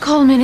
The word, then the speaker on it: Coleman: oh don't be afraid it is pronounced Coleman isn't it we've had some confusion D is silent in America it's sort of the